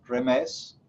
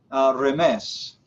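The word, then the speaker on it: remez: Segundo, remes, R-E-M-E-Z, remes.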